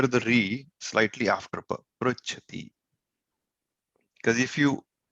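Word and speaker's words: पृच्छति: The specialty of this pronunciation is this pronunciation of ru slightly trails pa. It doesn't come with ru. Pru. Pruchati. So the ra you will hear the re slightly after pa. Pruchati.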